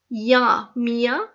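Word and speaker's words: minha: یہ جو اسپیلنگ ہے این آ رہا ہے، این ایچ، لیکن ہم این کو جو ہے وہ پروناؤنس نہیں کر رہے. ہم این نہیں پڑھ رہے، ہم پڑھ رہے ہیں میا.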